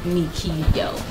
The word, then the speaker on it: Michael: phone wow spelled like michael pronounced like me yo ew why ah so